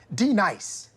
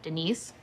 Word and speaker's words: Denise: You say your name right now. Denise? Say it right. Denise. Correctly. Denise. Right. Denise. Right. D-Nice? That's better.